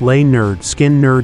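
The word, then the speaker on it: Lynyrd Skynyrd: recorded their debut album pronounced lay nerd skin nerd in 1973 this was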